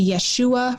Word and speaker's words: Yeshua: some people would say we should say yeshua rather than jesus because yeshua would be the aramaic way of pronouncing it but our english